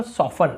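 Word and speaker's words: soften: क्या कर रहे हैं, यहाँ पे टी को नहीं पढ़ रहे, केवल सॉफन ऐसे बोल रहे हैं, नर्म करना, सॉफन।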